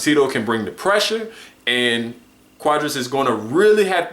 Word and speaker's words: Cuadras: back but what Carlos quadras is that how you pronounce it it's quadras quadras um it's a little